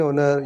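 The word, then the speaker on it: honour: एन ओनर, यहाँ पर भी एच साइलेंट है।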